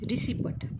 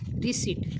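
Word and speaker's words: receipt: जो काही प्रोनन्सिएशन आहे बऱ्यापैकी सगळे लोक काय करतात रिसिपट पण हा रिसिपट नाही तर हा शब्दाचा जो काही प्रोनन्सिएशन म्हणजे उच्चार होतो तो काय होतो बघा रिसीट काय होतो बघा रिसीट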